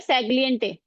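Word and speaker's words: Sagelion: सेग्लियंटे ठीक है जी आपको चटिंग में पता होना चाहिए कि बोलना कैसे है सेग्लंटे सेग्लिंटेट सेगलिएट ए सेग्लिंटेट सामने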